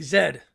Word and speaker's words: Z: lived in the uk brits say when they say z they say zed so there was okay